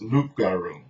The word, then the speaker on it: loup-garou: the correct pronunciation is loup-garou that's like the real French version but as we become